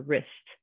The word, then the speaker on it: wrist: So that W is our silent letter, or your wrist, right? If you hurt your wrist. We aren't saying the W in that one. The W is silent. We're just pronouncing the R.